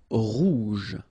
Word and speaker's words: rouge: Rouge. Remember, G-E, je. Rouge.